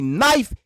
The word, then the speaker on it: knife: If it's going to be knife, let it be NIFE. Knife. No, y'all want to put a K on it. So now we got to look at this shit as where the K is silent.